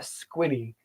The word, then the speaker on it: squinny: Okay, so when you Google squinnies in Des Moines, the 13th lined ground squirrel is commonly called a squinny. They are. It's spelled SQUINNIES. Google it. Squinny.